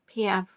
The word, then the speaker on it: Piaf: See, I know how to pronounce her surname. Edith Piaf.